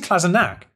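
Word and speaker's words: Kolašinac: kolasinac there we are klasinak is it klasina it's actually classic nag for some reason i've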